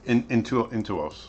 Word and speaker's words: Intuos: How do you pronounce Intuos? Intuos. Intuos.